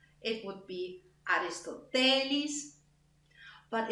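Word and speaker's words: Αριστοτέλης: name I know, Aristoteles, which in Greek would be like pronounced on another syllable. It would be Aristotelis, but it's excellence.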